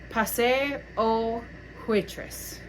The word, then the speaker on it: Passe aux Huitres: Passe aux Huitres. Oysters? Oysters. It's spelled Huitres, and it means the Pass of Oysters, or Oyster Pass.